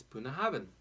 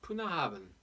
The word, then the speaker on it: Bunnahabhain: mouth of the river now the pronunciation by the way if you look at some of the international phonetic symbols it looks like putting the prune up Puna havin poor nahban so more of a P than a B between